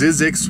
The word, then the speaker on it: Zzyzx: today after I fill my water tank is zizzix Road on Interstate 15 in California and it's spelled zzy ZX Road and yes it is